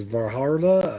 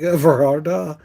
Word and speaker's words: Vildhjarta: I have no idea how to pronounce this. Varharda, I think. Varharda. It's Vildhjarta. Don't ask me.